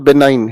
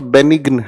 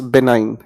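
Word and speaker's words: benign: जो ये बी लिखा है ना, इस शब्द को पढ़कर देखिए, इट is called बेनाइन, इट्स नॉट बेनिग्न, इट्स बेनाइन।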